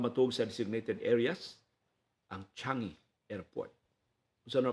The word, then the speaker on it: Changi: Ang Changi Airport. Kung saan pag-pronounce surname sa SEDA, ang airport sa Singapore, Changi.